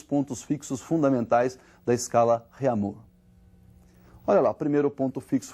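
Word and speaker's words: Réaumur: escala francesa aí que a escala reamur que nós vamos pronunciar reamur aqui aportuguesado de novo e essa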